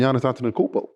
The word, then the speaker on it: Giannis Antetokounmpo: You about to play with Giannis Antetokounmpo.